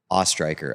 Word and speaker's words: Oesthreicher: And today we have a special guest, and that is Jacob Oesthreicher. I can never remember which it is. It's Oesthreicher. Oesthreicher.